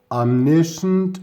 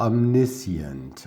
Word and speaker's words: omniscient: into all characters minds omniscient or omniscient omniscient is probably the british or rather british pronunciation variety omniscient is probably the all-american or majority american pronunciation okay then we have an